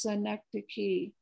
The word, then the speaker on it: synecdoche: It is synecdoche.